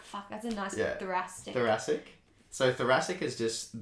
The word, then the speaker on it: thoracic: few times, I'm like, fuck, that's a nice thoracic. Thoracic. So thoracic is just the... Can you spell it? THORACIC. Yeah, it's a beautiful I was thinking word. like THRASIC.